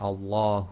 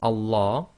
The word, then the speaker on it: Allah: So, so when we pronounce the name of Allah with no preceding sound, then you read the hamza as if it's got a fata. That's why we've got al.